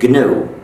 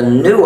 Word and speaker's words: GNU: But when it's the name of our system, please do not follow the dictionary. Please pronounce it GNU. If you call it the new operating system, you'll get people very confused.